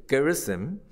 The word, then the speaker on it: Gerizim: Is it correct pronunciation? It's Gerizim.